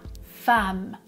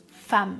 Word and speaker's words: femme: une femme oui attention j'écris femme avec un e mais je prononce comme un a femme femme par exemple Nadine est